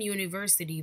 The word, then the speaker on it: university: University begins with a vowel, but we cannot say an university because the pronunciation of university is not a vowel sound.